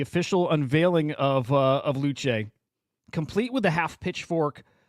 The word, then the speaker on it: Luce: which is absolutely wild the character's named uh luch that's how you pronounce it it's uh is it Italian for